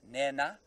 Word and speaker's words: Nhenha: A slightly aspirated H or N. So it's Nhenha. Look. They don't really mind if you don't say the aspiration. A very strict Shangan language teacher might be, but you can pronounce it N-E-N-A if you're not in the sort of Shangan land that we're in now.